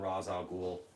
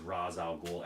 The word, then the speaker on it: Ra's al Ghul: it just bugs me because it's always been Ra's al Ghul you know it's always been pronounced as Ra's al Ghul ever since I first heard of the character it was Ra's al Ghul you know so he should be Ra's al